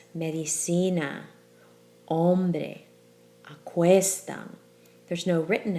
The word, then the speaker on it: hombre: you think about it then that stress falls on the second to last syllable as in medicine hombre question let yourself feel that stress medicine hombre question there's no written